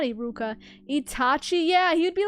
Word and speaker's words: Iruka: Eureka. What's his name? Eureka Sensei. I'm saying it wrong, right? Iruka, right?